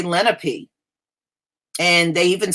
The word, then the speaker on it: Lenape: You know, I know a few of them, and they told me the word is Lenape. So if it's pronounced any other way, then they must not be aware of it either.